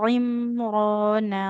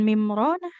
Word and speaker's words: عمران: عمران رب Imrona, bukan mimrona.